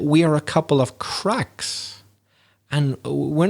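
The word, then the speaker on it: craic: that you were using the irish expression crack which is spelled c-r-a-i-c and you'd say oh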